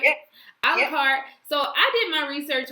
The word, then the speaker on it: A la Carte: Is I pronouncing it right? Yeah. A la Carte.